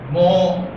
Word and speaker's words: mho: गाय को तो क्या आवाज निकालने देगा, वो मो है, एग्जैक्टली निकालते नहीं, थोड़ा और तेज और थोड़ा लंबा भी जाएगा नहीं। हाँ, एक बार आप अटेम्प्ट करना। तो ये C जो है वो मो के बराबर होता है, MHO, और इसको लिखते भी